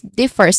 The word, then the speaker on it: differs: Then differs, which is which has two syllables, starts with d, which has a short e vowel sound. First, which has still a short vowel sound, but it's e sound, and it ends with a hissing sound still. So differs.